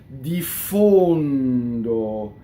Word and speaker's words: diffondo: Diffondo. Notice the N touches the D and the stressed O is closed.